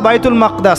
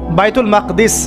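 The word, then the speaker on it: بيت المقدس: এবার এই বোরাক চলে গেল বাইতুল মাকদাস। এটা কোথায়? বাইতুল মাকদিস, বাইতুল মাকদাস না, বাইতুল মাকদিস। বিভিন্ন মানুষ বিভিন্ন উচ্চারণ করে।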